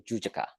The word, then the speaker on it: Jujaka: And the name, we pronounce Susaka Pona, right? But the real name is Jujaka, okay?